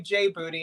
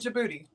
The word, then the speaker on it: Djibouti: And I'm saying it right for Trisha because I usually say J Booty, and Trisha's like, again, she's like, that's right. It's like, no, that's not how you say it. No. Yeah. No. And I've even asked her, please talk to your son and his friends and get a big opinion on how it should be pronounced. Yep, you did. And they said Djibouti.